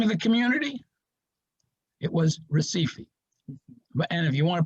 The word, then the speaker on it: Recife: h yeah they do they pronounce the r like an h okay all right any